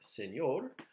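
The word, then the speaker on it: señor: of the way okay we start out here with si which hopefully you know is s okay so si we have an A which is a neat n yay and with a little squiggly oh no and the a a which is R so you get the word Senor which you know means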